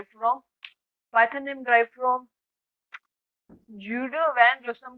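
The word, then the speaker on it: Guido van Rossum: तो ये जूडो वैन रोसम है भाई, सॉरी भाई, रोसम है।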